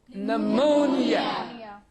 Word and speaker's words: pneumonia: the combination PS and PN at the beginning of a word. Beginning of a word. Now, words are psychology, psychiatry, yes, psychopath, and PN, pneumonia, right? Yes, sir. So you find here P is silent.